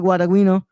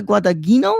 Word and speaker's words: Guadagnino: Johnson was like, "What did you just say, Luca Guadagnino, or what?" I was like, "No, dude, I'm trying to say it in the Italian pronunciation, but obviously it's not coming out right."